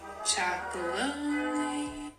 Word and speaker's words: Tony's Chocolonely: Chocolonely.